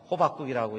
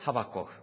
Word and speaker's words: 하박국: 오늘 본문은 하박국 서입니다 하박국 어 잘못 읽으면 호박국이라고 읽기가 쉬운데 호박국이 아니고 하박국 그런데 그 하박국이 것은 선지자의